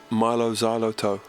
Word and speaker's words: Mylo Xyloto: you think you are our new album is pronounced Milo Xyloto like xylophone but you can do